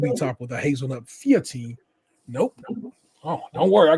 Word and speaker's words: feuilletine: Feuilletine.